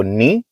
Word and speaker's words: knee: गोॾो पाण चवंदासीं हिकु गोॾे खे चइबो नी, KNEE। इनमें के साइलेंट आहे या ख़ामोश आहे, इहो लिखबो आहे पढ़बो न आहे।